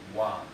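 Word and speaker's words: དབང: So let's spell it. So da, o, wa, ga, wan. Wan, power, means power. Okay, so it's wa here, wan. This is an exception.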